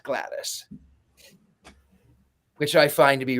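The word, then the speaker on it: Gladys: would call her Aunt Glattis, but she's not in the UK. She's American. She's Aunt Glattis, which I find to be rather fascinating as well.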